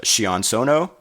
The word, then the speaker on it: Sion Sono: And this is directed by, forgive me on the pronunciations, I believe it's Sion Sono, and stars Yun Kunimura, Fumi Nakaido.